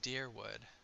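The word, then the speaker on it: Dyrwood: quick to remind me of okay so it's pronounced dearwood why'd you move all the way out here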